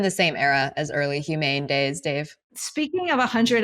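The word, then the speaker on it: HUMAIN: Yeah, but it's pronounced humane, which you're still talking about that AI company, Humane.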